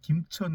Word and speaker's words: 김천: 일면 그 경상북도에 있는 김천 같은 경우는 이제 김으로 발음이 나는데 지금 여기 이제 금으로 발음이 나요.